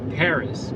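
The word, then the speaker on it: Perris: Alright, so this is Paris, but it's P-E-R-R. So it's not like the Hilton spelling. Ha ha ha. See how it's the same pronunciation though?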